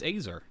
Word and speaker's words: Azer: a second what does what does the internet say to how to pronounce it that's okay oh it's azer okay Wikipedia oh yeah you're